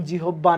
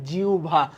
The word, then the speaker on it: জিহ্বা: ব্যতিক্রম আরেকটা পাইলাম জিহব্বা এটার নাম জিহব্বা না এটার নাম জিহভা এই ব্যতিক্রমগুলো আমাকে পড়তে